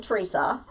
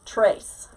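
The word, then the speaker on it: Therese: But anyway, um two people T H E R E S E. One pronounces their name Teresa still. the other one's trace.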